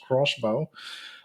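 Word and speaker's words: X-Bow: Um, Another space news is the number 4 news item, and that is that XBow, or it's spelled X hyphen bow, but it's actually supposed to be pronounced crossbow.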